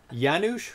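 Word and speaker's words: Janusz: last squadron by janice oh here comes the pronunciations okay last squadron by yanush hubus hubovsky and mihao spielovsky nice i would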